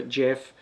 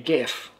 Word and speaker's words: Geoff: in Australia it's about 5050 those who are Jeff jouf and those who are Jeff j e